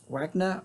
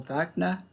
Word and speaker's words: Wagner: Written by Kurt Wagner or Wagner, depending on how you want to pronounce it.